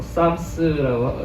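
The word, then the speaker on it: Psalms: PS A MS 근데 바로 어떻게 해야 되는 거야? 좀 싶은데 어 쌈스라고 이렇게 하죠. 네.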